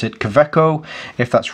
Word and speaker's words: Kaweco: But knowing that it's a German company and the W is probably a V, then it would be a Kaweco. However you say it. So I'll just pronounce it Kaweco.